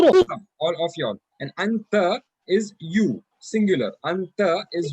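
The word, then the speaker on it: أنت: You have to take it with the nose and then pronounce it. So that's why it is not anta. It is anta, anta. The sound should come from the nose.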